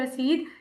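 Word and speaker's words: receipt: रिसीट का मतलब होता है रिसीट। इसका प्रोनाउंसिएशन रिसीट होता है।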